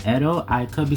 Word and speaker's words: Edo: guess it's actually called Edo, if I'm not mistaken. I could be saying it wrong. Don't give me the lines. It's spelled E-D-O. It's probably Edo, or Edo, and became the imperial